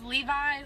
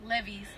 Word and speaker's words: Levi's: pronounces so wrong like I used to pronounce Levi's like levees like I used to